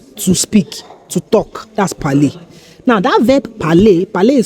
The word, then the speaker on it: parler: That's parler. Now that verb parler is spelled P-A-R-L-E-R.